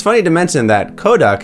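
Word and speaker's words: コダック: It's funny to mention that Koduck is spelled and pronounced the same exact way as Kodak, the camera film company, when it's said in Japanese.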